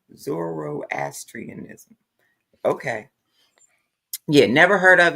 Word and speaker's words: Zoroastrianism: it um I didn't even know how to pronounce it until you said it to me today Zoro asianism Zoroastrianism okay yeah never heard of it until you